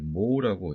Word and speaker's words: mho: 그래서 이렇게 쓰게 되고 혹은 mho라고 쓰게 돼서 자 같은 내용이고요 우리가 이것을 읽을 때 모으라고 읽게 됩니다 자 혹은 단위가 하나